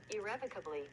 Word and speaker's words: irrevocably: How do you pronounce irrevocably? Irrevocably.